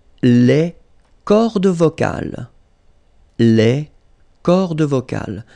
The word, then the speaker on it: cordes vocales: So you can notice that, as usual in French, you've got this mark of the plural at the end, S, and then S here as well, but you don't pronounce them, okay?